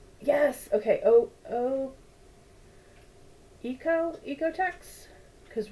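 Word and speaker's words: OEKO-TEX: okay oh oh Eco ecotex because right you don't pronounce the first vow when there are two vows together throw it back to kindergarten uh EOTech certification pretty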